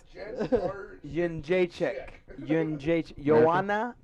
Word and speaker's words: Jędrzejczyk: It's Yin Jacek. Jarczyk. The N is silent and not visible. That's right. Jarczyk.